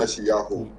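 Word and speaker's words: ישעיהו: of it, I mean, Isaiah's name is pronounced Isayuha, Isayuha or something. Yeah. Uh, Yeshayahu. Yeah. yeah, Yeshaya. Isayahu. That's Mm. how his name is really pronounced.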